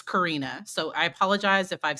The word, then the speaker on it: Karina: And this is and I might say Katrina, but it's Karina.